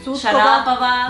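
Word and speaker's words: Шарапова: Aunque en real ustedes siempre ponen mal el acento, porque real es Volkova, Putin, Sharapova.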